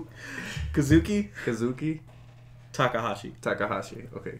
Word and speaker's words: Kazuki Takahashi: this katuki takahasi right is that how you pronounce his name kazuki kazuki takahashi takahashi okay kazuki takahashi